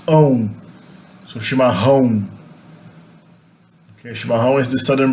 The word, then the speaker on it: chimarrão: Okay, the double R is pronounced like an H. And the A with the tilde followed by the O is pronounced on. So chimarrão.